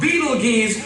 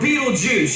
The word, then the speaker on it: Betelgeuse: about this star it's called beetle G's or Beetle Juice you can pick your pronunciation I'm obviously going with Betelgeuse and Betelgeuse is incredible